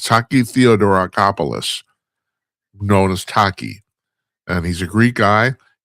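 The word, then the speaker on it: Theodoracopulos: Oh God, I got to look because I can't ever pronounce his last name, even though nobody uses it. It's Taki Theodorakopoulos, known as Taki.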